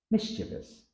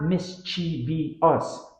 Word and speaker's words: mischievous: an extra syllable however the correct version has only three syllables Common Era Miss V us tip drop the I after the V it's not mischi us but mischievous pronunciation stress